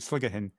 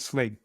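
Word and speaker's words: Sligachan: Oh, sligger hen. That is that how you pronounce it? I really Well, that's how my colleague Ruth who speaks GA pronounces it sligger hen. Just call it just call it the locals just call it slig. So just you know when you when you're here just say I meant slig.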